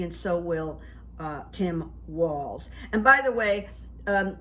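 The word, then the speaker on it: Walz: good for democracy and so will uh Tim Walls and by the way um his name is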